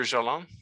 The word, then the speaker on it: Jalain: Jalain, the screen is yours.